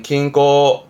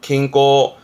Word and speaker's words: 均衡: 발음은 킹꼬 킹꼬 그래서 균형을 저울질하는 저울의 형자 저울 형자가 됩니다만는